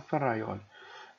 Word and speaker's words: Ferrajoli: é o Luigi ferroli ferrajoli né então cada um pronuncia de uma forma ferraioli né eu falo ferraioli ele tem uma obra